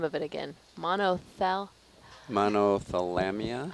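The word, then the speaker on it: Monothalamea: Monothalamia? I would say monothalamia. Monothalamia. You know what's fun about Latin? It's a dead language, so the pronunciation is variable.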